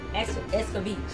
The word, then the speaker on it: escabeche: I said, if I say I made, how you say it? Escabeche. Escabeche. Escabeche. If I made escabeche. Yeah, see, like escabeche. Oh, escabeche. How many syllables is that?